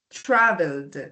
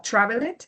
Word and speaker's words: traveled: Travel, traveled, d d. Este sonido final eh no va a sonar como traveled, sino como que suprimimos esta e y solamente vamos a pronunciar la d. Traveled.